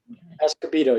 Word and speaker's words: Escobedo: I'm pronouncing that right. Escobedo, yes. Escobedo, okay.